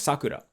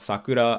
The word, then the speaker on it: Sakura: it's a Tama Dhaka the pitch accent pattern but when you're talking about Sakura as in the flower of cherry blossom it's haben and once I she told me she was like sometimes you pronounce my name like correctly and sometimes you pronounce it as if you were saying like the flower and then when she